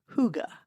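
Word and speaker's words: hygge: in text it looks like higgy but it's pronounced Huga it's about slowing down being present and enjoying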